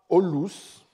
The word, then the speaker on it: Aulus: Olus était une forme, une prononciation vulgaire du prénom Aulus, parce que le Au, à partir d'un certain moment, au début de notre ère, était prononcé dans les quartiers populaires Aulus.